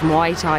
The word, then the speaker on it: Muay Thai: Sorry, I've an awful habit of saying Muay Thai. It's Muay Thai is the proper pronunciation of it.